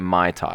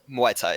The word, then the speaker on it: Muay Thai: Is it Muay Thai or is it Mai Tai? Oh, Muay Thai.